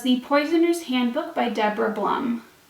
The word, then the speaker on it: Blum: poisoners handbook by deborah blum i mispronounced her name in my may TBR but Blum is correct not Blum this book is a